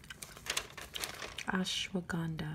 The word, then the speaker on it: ashwagandha: but i take a different brand of this ashwagandha i think that's how you pronounce it oh look right here they say